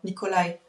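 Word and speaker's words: Nikolai: Il se prononce comment ? Nicolai. Nicolai. Bah Nicolai.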